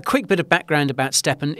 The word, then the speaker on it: Stepn: So let's start off with the largest one, the most well-known perhaps, which is a project called Stepn, and that is spelled S-T-E-P-N, Stepn.